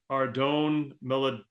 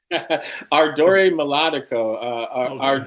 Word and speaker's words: Ardore Melodico: Tell me if I pronounce this right. Ardone Melodico. Ardore Melodico. Okay. Adore. It's Italian.